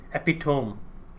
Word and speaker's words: epitome: I have to assume it's Greek, just because it's often the case that if you pronounce the E at the end of a word, then it is.